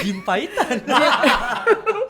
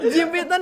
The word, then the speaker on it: jimpitan: Iya, makanya saya bacanya jimpaitan. Bahasa Inggris banget. Jimpitan tuh yang biasa dipakai anak-anak kecil tuh.